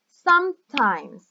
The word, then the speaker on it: sometimes: In Spanish, it would be something like sa, ta, But in English, we say sometimes. Sometimes. 2 syllables.